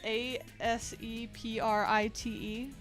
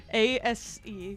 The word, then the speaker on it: Aseprite: Aseprite. Yeah, on desktop you should check out Sprite. Aseprite. Yeah, it just like that, except replace the C with an S. Ase.